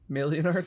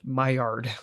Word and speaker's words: Maillard: How do you pronounce it? Maillard. Whatever, dude. No, I'm talking about something else. Something you don't even know about. It's like extra science. Oh, it's like a mallard.